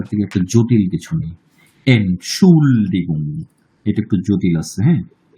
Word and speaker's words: Entschuldigung: আচ্ছা সুমন, হ্যাঁ সুমন, এটা কি হবে উচ্চারণ? এনশুল্ডিগং। আচ্ছা, তারপর তারপর ফারহান উদ্দিন। এনশুল্ডিগাং। হ্যাঁ ভালো করে বলেন। এনশুল্ডিগাং।